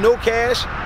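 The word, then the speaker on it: Know Cash: everybody out there in the world, I am the homie No Cash. The K is silent.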